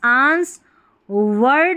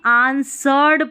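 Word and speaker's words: answered: societies the photographer photographer अब इसको देखें इसको आंस ए एन एस आंस वर्ड नहीं पढ़ेंगे ठीक है आंसर्ड पढ़ेंगे ये जो डब्ल्यू है ना ये साइलेंट है आंसर्ड क्या पढ़ेंगे आंसर्ड डब्ल्यू साइलेंट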